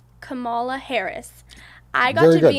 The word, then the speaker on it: Kamala: I got the chance, let me tell you, to be in, correct me if I'm wrong if I say her name, Kamala Harris.